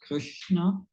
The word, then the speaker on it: Krishna: so the word Krishna, is it Krishna or Krishna? Well, I think that the right pronunciation is, try my best. Hare Krishna, Krishna Krishna, Hare Hare, Hare Rama, Rama Rama, Hare Hare. That's the pronunciation.